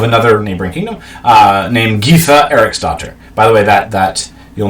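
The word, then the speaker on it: Eriksdóttir: neighboring kingdom, named Gytha Eriksdottir. By the way, that you'll notice with Lothbrok as well, this D with a line through it, like it's a T, that's pronounced TH because that's fun.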